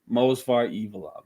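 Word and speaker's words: Movsar Evloev: this guy you said it right God evov mosar evov mosar evov versus Arnold Allen this is this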